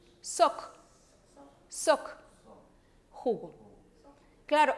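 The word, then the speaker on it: сок: Soc. Soc. Jugo. Claro. Automáticamente nosotros estaríamos leyendo coc, ¿verdad?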